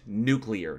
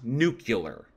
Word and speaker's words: nuclear: Firstly, the word is pronounced nuclear, not nuclear.